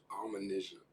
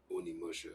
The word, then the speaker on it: Onimusha: It's Onimusha. And no one ever corrected me. I didn't find out until like a little bit later. It was Onimusha, and I was like, Onimusha.